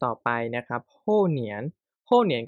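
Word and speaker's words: 年: ว่า มี อะไร บ้าง คำ แรก นะ ครับอ่าน ว่า เหนียน เหนียน ตัว นี้ แปล ว่า ปี นะ ครับปี เนาะ อย่าง เช่น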